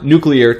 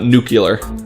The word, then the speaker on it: nuclear: one is the Iran nuclear deal just so you know I had to practice pronouncing nuclear because I was afraid that I was gonna come out nucular and we don't want